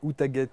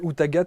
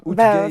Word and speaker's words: Outaghate: Elle se prénomme Asana et son nom c'est Outaguet. Et je suis très... Outagat ou Outaguet, comme on dit Asana, Outagat. bonjour. Outagat, Ouais. on a envie de la prononcer à l'anglaise. Oui, Outgate.